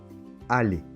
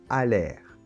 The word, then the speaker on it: aller: Aller. On prononce « aller ». Attention, E et R se combinent pour former le son « et ». Tu ne dois pas dire « à l'air ». Aller.